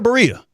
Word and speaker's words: Berea: Am I saying Berea or Berea?